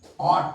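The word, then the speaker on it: ought: ये जानते होंगे कि ओ यू टी अगर है तो इसका प्रोसेसिएशन आउट है लेकिन ओ यू जी एच टी अगर आ जाता है तो इसका उच्चारण ऑट हो जाता है और एक वोवेल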